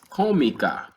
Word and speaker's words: cómica: choose is tú eres cómica. And this actually has an accent on the O.